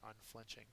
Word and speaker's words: unflinching: two men here are unflinching uh it's an itive unflinching has the second syllable accented it is firm or no